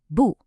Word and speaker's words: 不: It also has that falling tone. It's sharp and quick. Say it with me, 不.